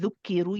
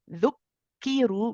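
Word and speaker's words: ذُكِّرُوا: You don't want to hear it this time with dhukkiru. You say dhuk, dhuk. You don't do the hams.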